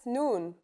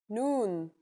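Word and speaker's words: نون: I in Arabic that's noon the noon is pronounced just like the English n pretty easy right it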